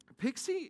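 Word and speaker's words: PKCE: bit of crypto and proof key for code exchange is pronounced pixie because nerds like cute acronyms and pixie is really kind of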